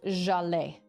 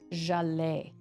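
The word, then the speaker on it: Zhaleh: And it was pronounced Jalais. Jalais. So is that Jacques? Jacques Lacan. Welcome, Jacques. That's what I'm gonna call you. Sorry. It's like a J.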